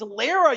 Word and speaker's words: Lara: It's Lara. You tourist. Unfucking believable. He mispronounced Lara.